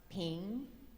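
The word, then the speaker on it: 平: character here and and this is pronounced ping ping and we're going to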